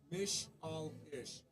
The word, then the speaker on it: Michlitsch: It's Mish-al-ish. Michlitsch.